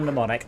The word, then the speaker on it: mnemonic: That's all That's a pet hate of mine is when people say mnemonic Mnemonic. when they're training. mnemonic. Mnemonic. Mnemonic's like pneumatic. Yeah, it's nothing to do with the lungs. It's to do with the mind.